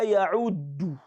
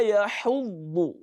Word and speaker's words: يَحُضُّ: Don't say وَلَا يَعُدُّ. You'll be making two mistakes. Number one, you'll be pronouncing ayn instead of ha. Then you'll be pronouncing dal instead of dhad. وَلَا يَحُضُّ. ضاد. يَحُضُّ. So when you say يَعُدُّ, it is wrong. Or when you say يَحُدُّ, it is wrong. It is يَحُضُّ.